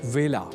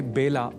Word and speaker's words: वेला: पर आप संस्कृत पाठशाला की गत कक्षाओं में जान ही चुके हैं कि व का कई बार ब के रूप में उच्चारण करना अशुद्ध होता है। अतः ए अक्षर से जुड़े वेला इस शब्द के उच्चारण में भी विशेष ध्यान रखा जाना चाहिए। अर्थात इसे बेला नहीं बोला जाना चाहिए।